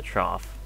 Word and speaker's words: trough: Nope, in the trough. Trough. That's a weird way to pronounce that word. But it is the correct one, though.